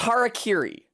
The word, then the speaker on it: harakiri: That's how English speakers pronounce it! Even though it's literally pronounced phonetically. Ha, ra, ki, ri.